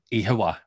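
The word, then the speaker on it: Oíche mhaith: Ihawa. That's the best. It sounds Japanese. Say it again. Ihawa. That's Japanese. I promise you it's Irish. Conor, thank you for this wonderful visit.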